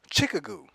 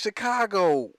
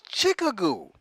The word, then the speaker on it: Chicago: pronunciation of Chicago is Chicka goo it even looks like chick ago when you look at it like oh wow however